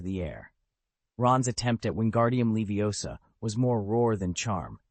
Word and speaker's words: wingardium leviosa: It's wingardium leviosa. You have to stress the gar and draw out the last syllable.